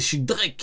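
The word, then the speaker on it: X Drake: Du coup, lui, c'est pas X-Drake, c'est Shidrek. Jusqu'à affronter Drake.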